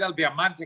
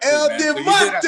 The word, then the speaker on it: El Diamante: I was hoping you said El Diamante because that's everything. That is everything. I said it right. Oh, you said it right. You got it. You even got the Mexican accent down with it.